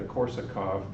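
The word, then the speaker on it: Korsakow: helping to improve it it's called the Korsakov but it's spelled corset cow k 0 w and it's a nonlinear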